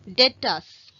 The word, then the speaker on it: debtor: Next one, debtors. Debtor அப்படின்னு read பண்ணலாம், but the right pronunciation is debtor. The B should be silent, okay, debtors.